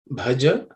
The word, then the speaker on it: Bhaja: The word Bhaja, for the sake of pronunciation, the Bha is aspirated consonant. So the fourth letter in the Pa Varga. So it has to be said Bha. Bhaja Govindam.